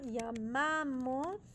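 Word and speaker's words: llamamos: y Erica uhuh yamos the stress goes on the middle syllable yam p not the I it's on the a why on the a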